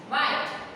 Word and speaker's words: white: वाइट, WHITE, H जो है वो साइलेंट हो गया।